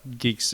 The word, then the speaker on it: Guix: you do UI x but it's it's it's pronounced geeks I it was very confusing for me as